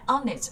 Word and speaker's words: honest: Các bạn thấy honey là chúng ta sẽ bật cái âm h, còn lại honest, honor, hourly nó bị câm.